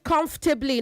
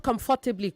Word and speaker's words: comfortably: Say comfortably. Not comfortably. Comfortably. Okay. Comfortably. You You almost swallow up the second syllable.